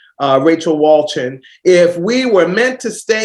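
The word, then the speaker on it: Wolchin: And that's from Rachel, and I believe it's pronounced Walchin. Rachel Walchin.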